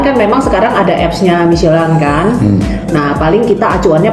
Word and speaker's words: Michelin: Enggak, kebetulan kan memang sekarang ada apps-nya Michelin kan.